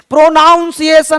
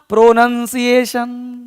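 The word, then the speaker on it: pronunciation: प्रोनाउंसिएशन नहीं बोलना। प्रोनंसिएशन प्रोनंसिएशन क्या बोलना है? प्रोनंसिएशन। प्रोनाउंसिएशन नहीं होता कोई वर्ड।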